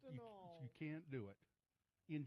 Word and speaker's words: Anal: It's a null. Yeah. Or a null. You can't. It's pronounced a null.